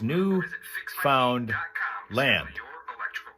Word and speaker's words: Newfoundland: 379 Mandy says Newfound Land. That's how you pronounce it.